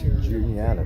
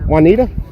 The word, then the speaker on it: Juniata: Juniata, Joey, come on. Juanita?